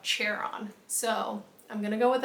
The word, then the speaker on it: Charon: I think that's how they pronounce it in the book. I've always said Charon, but there's a part where she says it and he corrects her and it's spelled out Charon.